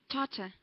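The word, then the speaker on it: Tatar: t is that correct is my pronunciation correct Tata uh we say Tata Tata language oh Tata okay interesting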